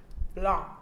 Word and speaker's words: Blanc: So it's Asline Blanc. Yes. Oh, you said it perfectly right. Blanc. Blanc. I love that. The N and the C is silent. French.